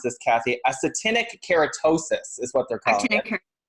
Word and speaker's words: actinic keratosis: It's actually something called, how do we pronounce this, Kathy? Actinic keratosis is what they're calling it.